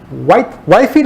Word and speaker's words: Whitefield: Whitefield o Whitfield, ¿cómo se pronuncia eso? Whitfield.